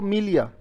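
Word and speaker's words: milieu: और यह कैसे बोला इसमें? यानी कि जो ई है वो साइलेंट है एक तरीके से. यह साइलेंट है, ई साइलेंट है, तो यू, ईयू से बन गया क्या?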